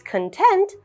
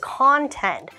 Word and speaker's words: content: pronunciations today's word is content but it is also content so this is an instance when one word actually has two meanings and two pronunciations even though it's spelled the exact same so our first sentence